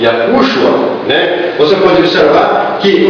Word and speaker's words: Yahushua: Nós colocamos esse sinal porque este U é um pouco mais forte, então a pronúncia fica em cima de Yahushua, né?